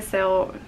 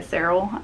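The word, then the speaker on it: Serle: in five years by rebecca sale well that's not how you say her name rebecca sarrell i have heard so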